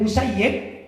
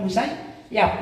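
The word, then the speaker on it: المسيّب: doanya sayidina Said bin musayyib maka kita bacanya bin musayyib bukan musayyab ini perlu juga ya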